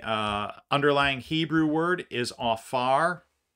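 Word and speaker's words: עפר: underlying Hebrew word is AAR it's spelled a p a r if you're taking notes it's pronounced AAR so the P there has like a ph sound um and that word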